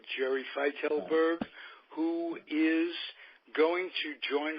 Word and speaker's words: Fietelberg: It's pronounced Fietelberg. Fietelberg, Jerry Fietelberg, who is going to join our booth as the third person.